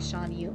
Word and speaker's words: Shan Yu: I saw it and I was like, yeah, I would almost have said Shen Yu, and I'm like, no, it's like Shan Yu.